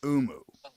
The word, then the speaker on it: Oomoo: This is a product that's called, I think it's pronounced Oomoo.